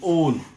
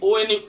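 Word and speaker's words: -one: Ketone, then pronunciation will be on. Pronunciation will be O-N-E, on. Don't try O-N means don't think that one. On. O-N-E, on.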